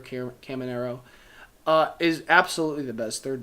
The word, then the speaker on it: Caminero: But now, Junior Caminero, I think it's pronounced Junior Caminero, is absolutely the best third baseman.